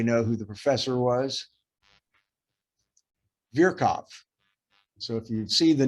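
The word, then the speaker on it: Virchow: who the professor was virkov so if you see the name v-i-r-c-h-o-w that's not pronounced veer chow it's pronounced vierkov and he's a famous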